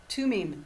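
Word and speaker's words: Thummim: How do you spell that? Tumim.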